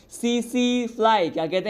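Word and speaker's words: tsetse: मैंने कहा सीसी मक्खी। यहाँ पर टी क्या है? साइलेंट है।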